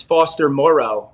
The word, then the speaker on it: Foster Moreau: for people to pay attention to, and it's Foster Moreau. Shout out to Will Compton for the proper pronunciation of that.